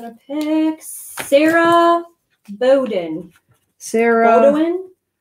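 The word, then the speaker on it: Beaudoin: Bowden? Spell it.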